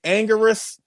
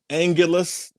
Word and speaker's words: Anguirus: You know, it's like Anguirus, Anguilus, or Anguiras.